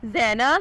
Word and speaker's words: Zaina: नाम है जैना, स्पेलिंग है ZAINA, मीनिंग है सफ़र करने वाली।